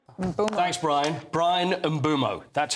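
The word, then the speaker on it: Bryan Mbeumo: Brian Mumo. Thanks, Brian. Brian Bumo. That's how you pronounce it.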